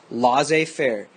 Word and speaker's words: laissez-faire: in general the government should be what's called laissez-faire it's French for it let it be like